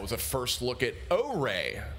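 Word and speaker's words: Ouré: And that was a first look at O-Ray. O-Ray, by the way, is how that's pronounced, if you were wondering.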